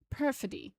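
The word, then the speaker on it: perfidy: Perod apparently is how you pronounce that.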